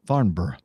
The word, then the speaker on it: Farnborough: I'll try to help if you replace the word borough with B RRR as if you're feeling cold BRR now just pop barn in front of it and bingo you've got Farnborough just like that common